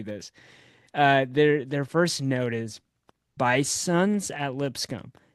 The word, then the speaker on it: Bisons: Don't confuse us with the North Dakota state where they are pronounced the bison. The Bison. most commonly accepted plural of bison is bison, but at Lipscomb we are bisons with an S.